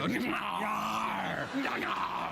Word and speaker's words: Gnarr: Gnarr.